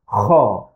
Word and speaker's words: خ: we pronounce it as kha. Kha. It's also a throat sound because the sound comes from the throat.